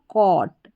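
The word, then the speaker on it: caught: सी को हम यहां पर क पढ़ेंगे। ठीक है? क और ए यू जी एच टी ऑट तो क्या बन गया कॉट सी ए यू जी एच टी कॉट हो गया यहां पर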